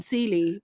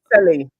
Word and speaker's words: Selly: I keep saying Celie, but Selly.